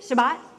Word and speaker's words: Shabbat: bible better than mine am i pronouncing it correctly what is it shabbat thank you i do it wrong every time thank you very much